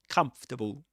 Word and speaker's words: comfortable: It's not comfortable. Even though Even though you see in the spelling four syllables come, but it's pronounced comfortable as three syllables in this accent, of course.